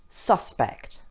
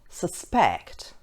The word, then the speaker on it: suspect: If the word is being used as a noun, the stress is on the first syllable, such as present, export, suspect.